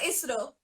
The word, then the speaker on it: ISRO: Do you say ISRO or do you say ISRO? No, we say ISRO. ISRO is correct.